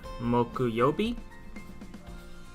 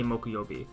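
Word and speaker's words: 木曜日: day of the week moku yobe uh yeah i just said it you say mokuyobi um this is thursday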